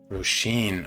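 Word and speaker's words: Róisín: Roisin. Okay, I swear I'm gonna get it right. Roisin. Thank you. Thank you so much. Roisin. Oh, I love that. Thanks for spelling it phonetically.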